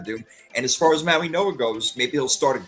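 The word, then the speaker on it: Mauigoa: Again, still trying to figure out where the N is in his last name and why it's pronounced that way. But okay, it's not Maui Goa, it's Maui Noah.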